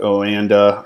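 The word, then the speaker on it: Oanda: i do 4x on wanda that's how i pronounce it some people may call it oh and uh or whatever i call it a wanda okay so if i'm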